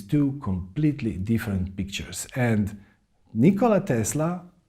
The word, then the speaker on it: Nikola Tesla: inventors that world ever had his name was nikola tesla and yes that's how his name is properly pronounced or at least that's how he would